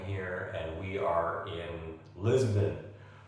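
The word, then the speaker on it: Lisboa: and we are in Lisbon or as the locals pronounce it liso I am near the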